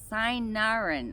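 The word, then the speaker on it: cynarin: Um, it is used for detoxifying the liver due to the properties in it called sinarin. I'm going to spell it so you know the spelling.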